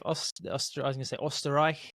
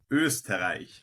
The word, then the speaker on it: Österreich: We're previewing the Red Bull Ring Grand Prix of Österreich. Is that right, guys? Markus, did I say it correctly? Österreich, but you were close. Österreich.